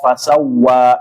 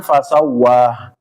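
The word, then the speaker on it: فسوى: Sabbihismaikal a jangan a alladzi khalaqo fasawwa. Jangan fasawa. Ya, kadang-kadang ada ya Bapak-bapak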